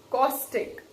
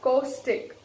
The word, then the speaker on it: caustic: today is caustic or caustic. You can pronounce it either way. It can be pronounced as caustic or caustic. Alright, now see what is here. Americans, most probably, they pronounce it as caustic.